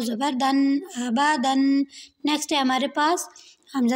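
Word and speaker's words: آبادًا: حمزہ زبر آ، با زبر با، دال 2 زبر دن، آبادن۔ اب یہاں پہ جو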